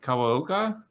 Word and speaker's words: Kawaoka: Lane, I forgot to discuss with you the pronunciation of your last name. Is it Kawaoka?